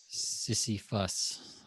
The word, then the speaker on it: Sisyphus: it up before Sisyphus how's it spill it is spelled si s why pH us sissie fuss all right let's find out let's do a